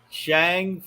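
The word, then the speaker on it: Shang-Chi: go tomato tamara ironically the character that simulu who plays shanghai played on kim's convenience pronounced it shang oh really okay he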